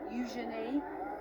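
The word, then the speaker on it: Eugenie: And I was with her at an event the other day actually, and she was telling everybody there just how to pronounce her name. Use your knee. Euenei.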